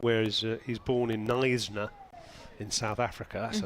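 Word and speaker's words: Knysna: It's always been there, but yeah, she always it's Nisner spelled with a K and it's um on the garden route.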